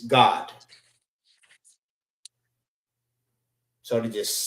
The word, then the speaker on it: Gad: But Gad is Gad, and in the Hebrew, it's God.